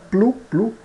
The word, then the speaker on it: plus: ã aqui e também o s final não é pronunciado né plu plu aqui aqui e long